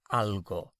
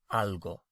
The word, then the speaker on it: algo: practice our verbs so to say something it's algo a-l-g-o-a-l-g-o algo something algo so how would you say I need to